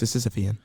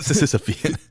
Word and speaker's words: Sisyphean: How do you say that? Sisyphean. Not Sisyphean.